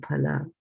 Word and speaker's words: फल: So phala, I did not say phal. I'm saying phala.